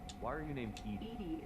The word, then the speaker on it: EDI: why are you named edie is the phonetic pronunciation of edi that is an acronym for enhanced defense intelligence that's all for now